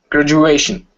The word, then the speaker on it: graduation: you pronounce this word graduation graduation because the U graduation so it sounds like a j and also you've got